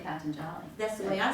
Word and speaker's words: Patanjali: I've never known how to pronounce his name. Patanjali. Patanjali. Okay. Thank you. I didn't. Yeah. Jimmy says it's Patanjali. It's Patanjali. Patanjali.